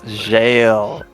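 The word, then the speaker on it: gaol: Please have jail get imprisoned. No, it's jail. Fantasy jail. You see spelled like it is an Elden Ring.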